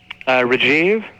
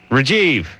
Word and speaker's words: Rajiv: Ask I don't him, know ask him how to pronounce his name. What's your name? Rajiv. Rajiv.